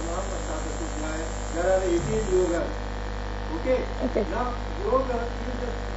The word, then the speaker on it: yoga: So the best technique to pronounce yoga is to take prolonged yo a little bit. Yoga. So that you pronounce ga as ga, not neither yog with a halan nor yoga.